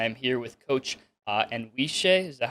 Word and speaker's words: Anwisye: jamie birdish i am here with coach uh and shea is that how you pronounce it yes all right and we're gonna